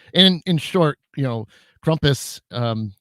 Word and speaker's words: Krampus: in short you know krompus um a lot of people say krampus but that's not how you say it the the a at the end is more of like a u um but the uh